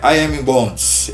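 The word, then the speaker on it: E. M. Bounds: Hernandes Dias Lopes é emen Bond é I am Bondes Essa é a pronúncia mais correta ele diz homens mortos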